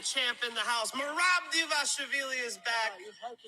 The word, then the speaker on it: Dvalishvili: Merab Dvalishvili is back. You have to say my last name good. It's a Dvalishvili.